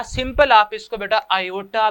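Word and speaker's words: iota: Simple आप इसको बेटा आयोटा भी लिख सकते हैं। जो आई बेटा है इस आई को आप आयोटा भी कहते हैं बेटा, इसको प्रोनाउंस करें तो ये बेटा बनता है आयोटा, ठीक है, आयोटा।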